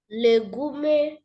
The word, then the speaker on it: legume: Legume, cereals, tubers and root crops are all sorry. Come with the come again with the question. Legume cereal, tubas and root crops are all okay.